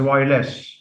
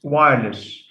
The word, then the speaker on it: wireless: Although some students, I've heard many people in Amman mispronounce it as wireless. Wireless, they say. It's wireless. So stress falls on the stem.